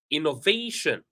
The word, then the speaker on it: innovation: So for words that end with shin, we stress the syllable right before shin. For example, information. So if I'm using my pencil, I can say information, innovation, immigration. All right. So whenever we have the syllable before shin, we stress that syllable.